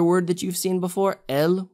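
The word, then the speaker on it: él: that you've seen before el but with an accent they are pronounced identically but the the moment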